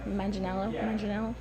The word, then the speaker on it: Manganiello: Yeah, I think my favorite was Richie, Joe Manganiello.